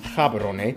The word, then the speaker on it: Gaborone: Botswana's capital and largest city is Gaborone. If you speak Setswana, it's pronounced Gaborone, located close to the border of South Africa, and the country is divided into 9 districts.